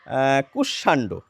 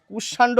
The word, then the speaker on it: কুষ্মাণ্ড: এবার আমরা জানিয়ে রাখি এর প্রচলিত উচ্চারণটা কি, যেটি বেশিরভাগ মানুষে আমরা বলে থাকি। এটিকে আমরা বলে থাকি দুষ্মন্ত, আর এটিকে বলে থাকি কুষ্মাণ্ড। কিন্তু কিছু মানুষ দুষ্যন্ত বলেন, কিছু মানুষ কুষ্মাণ্ড বলেন।